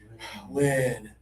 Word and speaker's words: win: Okay, the e e e sound is easy, but the single i indicates, usually, not always, usually lower tongue and more air.